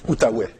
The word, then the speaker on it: Outaouais: He teaches strategic management and project management at Université de Quebec on, how do you pronounce it? Outaouais.